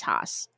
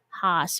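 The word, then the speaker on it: Haas: hos h a s James hos as how I would pronounce it um he lives in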